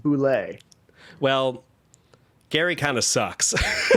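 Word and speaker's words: bulette: Gary Gygax once in an article said that the correct pronunciation, despite bullet having two T's and an E, is pronounced boulet.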